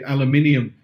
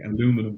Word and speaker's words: aluminum: I'm just checking because over here we say aluminium. I know in America it's aluminum, so I wanted to say it correctly, aluminum.